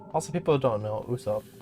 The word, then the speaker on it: Usopp: Even the original creator of the show says Usopp. He says his own name as Usopp half the time, and it's phonetically spelled Usopp, so that means it's pronounced Usopp.